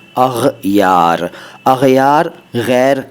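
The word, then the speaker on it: اغیار: करार दाद इसके बाद अग यार इसका भी उच्चारण ध्यान से सुनिए अग यार अग यार नहीं अग यार अग यार गैर का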